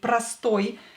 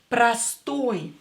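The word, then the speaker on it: простой: and it's stressed here pastoy again o will be pronounced as a because it's not stressed prastoi means same simple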